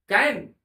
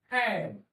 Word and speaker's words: can: CAN कभी भी केन नहीं होता है, लेकिन अधिकतर बच्चे केन ही प्रोनाउंस करते हैं, उच्चारण करते हैं।